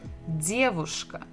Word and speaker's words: девушка: We have dear, d, дедушка, and here we have буква V, v, v, девушка. And the stress is also the same syllable, the first.